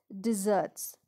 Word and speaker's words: dessert: are lots of delicious desserts dessert dessert is different from desert desert is d-e-s-e-r-t okay whereas this is dessert now how do we